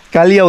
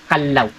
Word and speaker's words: Callao: sa sir ganito po don't be confused some tourist they pronounce it ciao ciao is Spanish word the peaceful and Quiet Village po siya second one We have a cala kalalo is a kind of bird or the rufus horn build of kalal and then Iyung proper correct pronunciation natin Much better to pronounce it Kalaw Kalaw not kalo not kal It's kal Kalaw Okay so